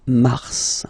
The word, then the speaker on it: Mars: So, in a way it's an exception because normally final S is not pronounced in French. Okay. We've got some exceptions and this one is one of them. So, Mar pronounced the final S. Mars.